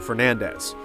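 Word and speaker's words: Belnades: was isabel nades however according to the japanese versions of the game as well as castlevania 64 the name is pronounced closer to fernandez sifa's actual last name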